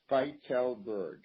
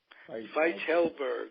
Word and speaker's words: Fietelberg: It's pronounced Fietelberg. Fietelberg, Fietelberg, who is going to join our booth as the third person.